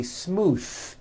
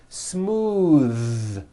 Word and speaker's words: smooth: ends of words smooth believe it or not the th sound in smooth is voiced most foreign speakers say this word incorrectly they say smooth with an unvoiced th but it's voiced smooth bathe the word bath